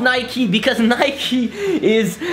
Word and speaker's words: Nike: but yeah, Nike in French is pronounced Nike.